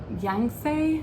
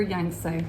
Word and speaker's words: Yangtze: oracle and you've got oh i never can pronounce this word sacred river youngst um yang say yang say maybe sacred river yangtze let's go with that capricorn if you know